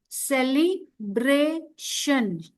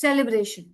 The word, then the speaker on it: celebration: इट इज celebration. TION is शन. Okay, so we Okay pronounce it ma'am. as celebration.